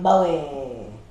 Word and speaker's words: Bowie: If you enjoyed this video, please like and subscribe, and comment down below what you think of Jim Bowie. I thought it was Bowie. Bowie. Yeah, Jim Bowie.